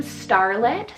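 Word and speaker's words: Starlette: star in the name so that's the name starlet spell s-t-a-r-l-e-t-t-e starlet or for something a little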